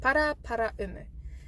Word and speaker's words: Paraparaumu: So what I suggest is to break it up into Paraumu. So Paraparaumu.